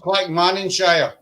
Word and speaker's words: Clackmannanshire: it's pronounced Clackmannanshire.